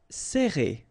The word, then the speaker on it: serré: Alright, so interesting here because you get this E and then double R after that. So it will open the sound of E, okay? So you will pronounce it like E.